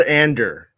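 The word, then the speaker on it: Andor: endor series premiere uh it's called ander if you listen to the trailers you know how to say it correctly that's true andrew i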